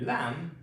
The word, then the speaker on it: lamb: l a m lamb l a m lamb A lamb is a baby sheep. And again, for this letter, there's no sound and there's no dot. It's just ooh ah mm lamb.